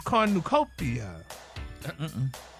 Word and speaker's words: cornucopia: this week's word is Cornucopia it's what corn new not quite you put the accent in the wrong place try it again kopia the word is